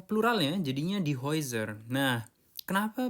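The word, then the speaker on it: Häuser: Nah, dan seperti kita tahu huruf e U dibacanya oi.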